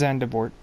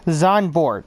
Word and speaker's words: Zandvoort: It's not the only one from Belgium, so is Zandvoort. Or sorry, Zandvoort, because I think that's actually how it's said.